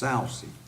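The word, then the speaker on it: Soucy: and mary ellen and i believe that's pronounced salcy s-o-u-c-y i don't know her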